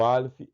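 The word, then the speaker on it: א: Consequentemente, o Aleph, ele parece-se com o nosso H. Ele não é pronunciado, mas ele se faz presente em muitas palavras. O Aleph é mudo.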